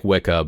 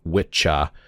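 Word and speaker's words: wicca: right Old English and it looks like wiah but apparently it's pronounced witcha you can look up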